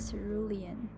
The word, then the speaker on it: cerulean: and the lower part is more of the cerulean that's how you pronounce it and now I'm just using this